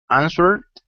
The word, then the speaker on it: answered: Answered, Good. So for this, we don't pronounce the W.